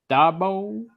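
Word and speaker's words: Daboll: to go ahead I would say uh Brian Dabo that's how you pronounce his name yeah for the Giants for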